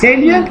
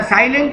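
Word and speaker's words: salient: सैलिएंट का मतलब बोला साइलेंट नहीं, सैलिएंट।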